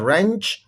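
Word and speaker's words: wrench: but Landé on द रेंच इसमें W silent है ऑफ अ man fixing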